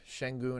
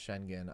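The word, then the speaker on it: Şengün: been really impressed by shenon I know you say his name is pronounced shenen I don't know I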